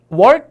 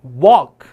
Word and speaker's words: walk: 이거 10이면 9 정도의 학생들이 work 이렇게 발음하시는데 walk. 그래서 L이 발음이 나면 안 돼요. walk.